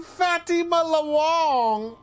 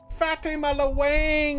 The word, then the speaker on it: Fatima Wang: Fatima loang very good why is her name fatty Mela Wong Fatima Wang is actually how it's pronounced you idiot nothing to worry about I handled it glad to hear it and thank you again for your help w-a-n-g it's Wang foreign foreign